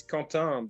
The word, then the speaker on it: Quentin: In France, it's Quentin, but most Quentin. most most English speaking or even Spanish speaking countries will pronounce it Quentin.